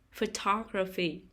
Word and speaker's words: photography: second syllable performance performance photography photography the stress is on the second syllable photography puppet puppet the stress